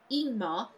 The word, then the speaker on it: Ingmar: Ingmar is pronounced Ingmar, leading with a vowel sound.